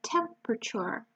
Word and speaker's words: temperature: wind temperatures degrees I hope you remember the pronunciation of the wet temperature we have a lot of silence sounds here